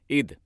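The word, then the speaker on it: עֵת: अब यहां पर ये शब्द समय इब्री में है ईद। कहिए ईद। आप ऐसे उच्चारण करते हैं इसे, समय का उच्चारण है ईद।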